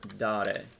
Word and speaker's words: dare: this one up and it is do dare that is a weird verb because it's actually not a long a but don't let that